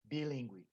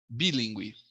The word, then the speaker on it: BELíngue: He's also the founder of Mattiello Consultoria Acadêmica and BELíngue. Is that the proper pronunciation? You go for it. BELíngue. BELíngue, thank you.